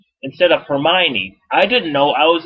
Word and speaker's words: Hermione: I thought it was pronounced Hermione instead of Hermione.